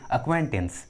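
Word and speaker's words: acquaintance: होता, सी साइलेंट है, इसलिए इस इंग्लिश वर्ड में जो सी जो है वो साइलेंट है, सी का आवाज़ नहीं आ रहा है।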